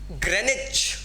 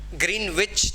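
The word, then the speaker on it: Greenwich: ग्रेनिच, ग्रीनविच जिसे बोलते हैं, बट the correct pronunciation is ग्रेनिच. ग्रेनिच एक शहर है, दैट इज इन इंग्लैंड.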